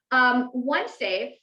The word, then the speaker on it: OneXafe: OneXafe, spelled with an X, OneXafe, because X is the new S.